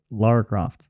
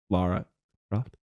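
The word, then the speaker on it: Lara Croft: Laura I thought it was Laura Laura la Laura coft la Laura cof you almost made me say it right wrong Laura coft you did say it wrong laara coft La laa coft Loft I hate that you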